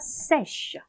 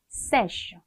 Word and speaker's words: sèche: 근데 이게 여성형으로 바뀔 때 sec 이렇게 바뀌는 게 아니라 아예 철자랑 발음이 싹 다 바뀝니다. 그래서 읽어볼게요. sèche, sèche. 굉장히 발음이 좀 건조해 보이지 않나요? sèche, 그쵸?